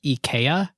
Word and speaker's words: IKEA: should be pronounced because in Europe it was Eaya. The way you would pronounce it as a Swedish person is EA. And the ad campaign they decided Americans are just going to pronounce it IKEA.